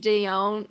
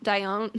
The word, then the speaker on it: Dion: were getting from the 80s like the Selene Deion. Dion.